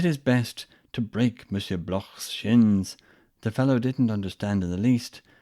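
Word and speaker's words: Bloch: that attack on Mr Block perhaps to give an Israelite name a more foreign sound pronounced not like a k but as in the German ha when he said about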